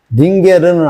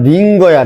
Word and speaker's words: 링거: 링게르는 알아. 링게르 링게르. 링게르는 일본식 발음이야. 링게르는 정확하게 링거야. 링거.